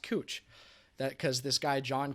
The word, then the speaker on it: Couch: in portland that's spelled c-o-u-c-h and most people if you don't know would would pronounce it couch because it's spelled like couch but it's actually pronounced cooch that because this guy